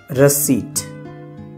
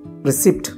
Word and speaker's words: receipt: तो अगला वर्ड है रसीट, रसीट, रसीट। हम रिसिप्ट बोलते हैं, वैसे नहीं होता।